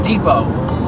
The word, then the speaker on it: Depot: That's Home Depot. well, because a lot of English has roots in other languages, like French or Spanish or whatever, you know. So it, you know, the T is silent in French.